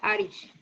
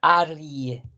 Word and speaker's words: arg: Aunque la primera que nos pone se ve como que dijera Arish. Sí, Arish. Pero aquí dice más que nada Arie.